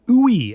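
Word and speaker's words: WUI: Just because you've you've brought up the urban wildlife interface or ooey as it is like pronunciation guide in the book.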